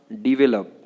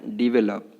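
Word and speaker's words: develop: इसके बाद डिवेलप, इसको क्या बोलना है? डिवेलप। लोग बोलते हैं इसको डेवलप, जो गलत तरीका है, डिवेलप बोलना है।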